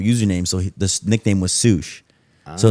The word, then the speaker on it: Soosh: Why didn't you spell it like SUSH if it was an abbreviation for sushi? Because that doesn't spell Soosh. That's like sush. You know? So Wizard Soosh, shit. yeah, Soosh is 2 O's.